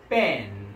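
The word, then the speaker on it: בן: The son in Hebrew word is ben. Okay? Ben. So bet nun, that's the alphabet, bet and nun, bet nun. So pronunciation is ben, ben, ben.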